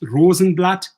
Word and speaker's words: Rosenblatt: and by the way the name rosenblatt is german it's pronounced rosenblatt which means that the rose petal in german so we will see